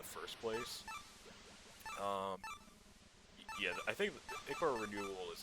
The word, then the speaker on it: ichor: That's pronounced ichor. Choose your ichor wisely.